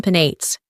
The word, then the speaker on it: Penates: 따라서 키벨레와 베나테스는 thus, Sibyl and Penates, 각각 세 음절로 발음합니다. Each have 3 syllables.